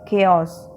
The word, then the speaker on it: chaos: दिया हुआ है और इसको प्रोनाउंस कैसे करते हैं, केओस, ठीक है, केओस।